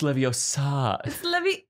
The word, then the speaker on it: Leviosa: you to give the it's leviosa it's in the movie hermione uh okay yeah yeah